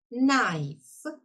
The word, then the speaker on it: knife: Сполучення KN. Читаємо звуком н. Ніж. Найф.